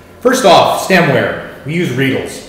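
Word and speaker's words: Riedel: off stemware we use rles rhymes with needle they're beautiful they're gorgeous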